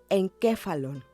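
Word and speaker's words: ἐγκέφαλον: La palabra se lee encéfalon y quiere decir encéfalo.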